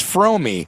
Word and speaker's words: Fromme: I never hear anybody say your name right, and it is Fromme, like foam with an R and me, right?